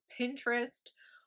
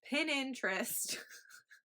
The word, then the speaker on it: Pinterest: The last platform we're going to talk about today is Pinterest, or as someone in my life calls it, Pininterest. We try to get her to pronounce it correctly, but she always says Pininterest.